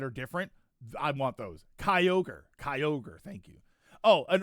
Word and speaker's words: Kyogre: You added like three syllables. I don't I didn't say all of that. Kyogre. Kyog Kyogre. Kyogre. Yeah, that's all I said.